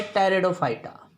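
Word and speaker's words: Pteridophyta: और जो तीसरा ग्रुप है उसको कहते हैं भाई टेरिडोफाइटा। क्या कहते हैं? टेरिडोफाइटा। पी साइलेंट है इसमें, टेरिडोफाइटा बोला जाता है, TERIDOPHYTA, टेरिडोफाइटा।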